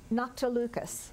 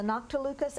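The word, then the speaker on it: noctilucous: Noctilucas.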